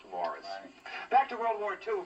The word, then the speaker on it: Maurice: Aside from being controversial, it also takes top honors for the year in the year's most mispronounced film title, spelled Maurice, pronounced Morris.